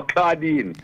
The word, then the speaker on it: Claudine: Oh, Claudine. Claudine. Hey, Claudine, yes. How you doing? Pronounce the A-U properly, no, sir. Don't say Cla, like no.